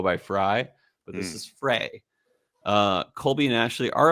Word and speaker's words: Frey: Uh and it was founded by Colby and Ashley Frey, not Fry. I know people that that have the same spelling and they go by Fry, but this is Frey.